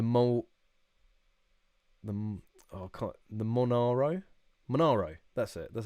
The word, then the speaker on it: Monaro: name uh the mole the oh the monaro monaro that's it that's how you say it that's